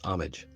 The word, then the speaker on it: homage: the painting is an homage to the brave man who lost their lives in the war homage it's like it's pronounced like honest you know except it's homage um notwithstanding notwithstanding despite